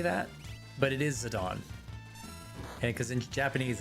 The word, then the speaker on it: Zidane: For years I pron pronounced Zidane as Zidane, which is what I just did. Tell Sigia showed me it was Zadon.